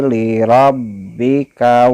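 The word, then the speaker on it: لِرَبِّكَ: Nah, di sini di kalimat fasholli jangan dibaca li-nya, jangan dibaca panjang, jangan dibaca seperti ini. Fasholli lirabbika, jangan dibaca seperti itu, tapi dibacanya li-nya pendek.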